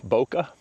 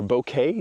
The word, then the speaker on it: bokeh: and I want to come over here and I was able to pick up a uh bokeh or bouquet depending on how you say it for my photography friends out there.